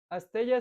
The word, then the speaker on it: asteya: Astella se escribe con Y. Astella. Astella. A-S-T-E-Y-A.